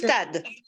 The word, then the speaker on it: croustade: What was it that you're trying to pronounce? The mushroom. Croustade.